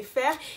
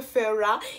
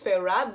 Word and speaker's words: Feyre: le lis en anglais, je le prononce quand même faire, et elle m'a dit ouais s'il te plaît et tout, par contre prononce-le Feyre, et elle a raison, ça se prononce Feyre, du coup faut que